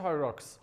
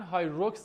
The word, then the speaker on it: HYROX: زیاد نباید سختش بگیریم ریشه لقبشو در نظر بگیریم میشه هایراکس هایراکس نمیشه میشه هایراکس خب ولی برای اینکه راحت‌تر باشه من هایروکس تلفظش می‌کنم چون یه چیزیه که